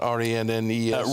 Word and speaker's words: Rennes: So they've made a promise to pay 60 million quid to, how do you pronounce that? R-E-N-N-E-S?